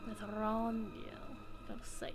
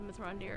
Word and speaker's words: Mithrandir: Mithrandir. You gotta say it like you're posh.